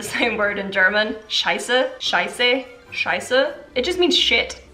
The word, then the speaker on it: Scheiße: If you can hear the difference between the Swiss German pronunciation and the German pronunciation, there's a slight difference. Scheiße, Scheiße. Scheiße, Scheiße. It's a little E part at the end that has a slight pronunciation change.